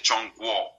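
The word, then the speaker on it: 中国: China en China chino se dice chono. Chon quo significa algo así como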